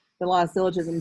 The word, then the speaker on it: syllogism: is called lavs syllogism that's a soft g it's not syllogism it's syllogism if p implies q